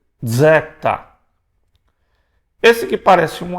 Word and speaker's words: zeta: Os zeta, os deta, há uma briga se a pronúncia antiga era zeta ou se era sdeta.